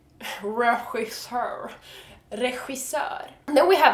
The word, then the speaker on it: regissör: And we have another word with the same cat hissing sound, and that is director. Director in Swedish is regissör.